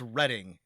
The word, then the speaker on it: Reading: Uh in England, it's reading. Pennsylvania people, do you say it reading or reading in uh Pennsylvania? Reading. Okay. Reading Pennsylvania.